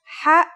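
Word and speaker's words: ح: Ha is the first letter of the second group, meaning that it has no counterpart in English. It sounds like the sound you make when trying to cool your mouth and throat after eating something very spicy.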